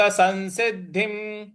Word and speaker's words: संसिद्धिं: योग संसिद्धिम योग संसिद्धिम।